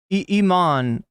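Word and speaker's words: Imane: They both have headgear and eman is how you pronounce it.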